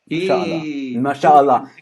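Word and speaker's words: ما شاء الله: well done mashallah mashallah mashallah nananana Egyptians pronounce it that way mashallah I know I lived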